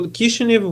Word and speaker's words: Kishinev: today it's kishin so kishinev would be the Russian reading of the name if you you go